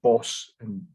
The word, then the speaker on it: Bosch: number of his paintings as bosch pronounced boss in dutch the name derised from